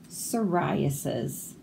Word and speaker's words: psoriasis: Ptolemy, the psychic pterodactyl, struggles with psoriasis. So all of these P's are silent. We don't say them.